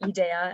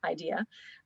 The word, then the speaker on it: IDEA: it was originally founded, which is why we pronounce it IDEA and not IDEA.